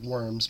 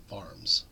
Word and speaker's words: Worms: of the vs I know it looks like worms but we pronounce it VMS of course a far-reaching aspect of the Reformation